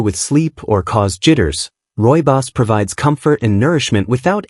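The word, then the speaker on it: Rooibos: Our final herbal treasure is Royos, pronounced Royos, which comes from the Africans words meaning red bush.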